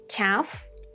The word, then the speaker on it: calf: Sometimes when there is lf like in calf or the British pronunciation cough and then folk yoke.